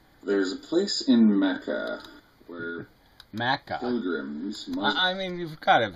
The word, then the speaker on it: Mecca: really are telling me you hear people pronounce it Makkah I mean really Mecca I've never heard it pronounced anything other than Mecca I mean it's one